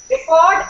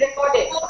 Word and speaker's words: record: stress is on R here the stress is on C in the first word it is record don't have any record and then it is recorded so the stress is